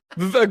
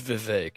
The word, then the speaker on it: Vivek: He's talking with somebody, and somebody brings up Vivek, and Bill Maher goes, "It's Vivek. It rhymes with cake."